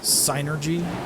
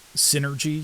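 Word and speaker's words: Psynergy: official pronunciation it is sinergy um cuz it's psychic energy sinergy um but for like decades uh I've been saying it Synergy you know just like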